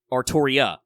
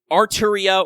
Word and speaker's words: Artoria: But if you're going to make that feminine, it's so it would just be Artoria. The Arturia or Arthuria days are a little behind us, but that was a legitimate case for that pronunciation.